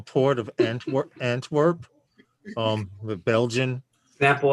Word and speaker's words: Antwerp: it wrong when i said it before no antwerp beautiful place by the way they're using um